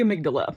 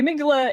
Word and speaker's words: amygdala: But then we have the alarm system, and that's the amygdala. I call her Amy. Amy G. Dalla is how you would spell it. Amy, middle letter G, D-A-L-A. The amygdala is kind of like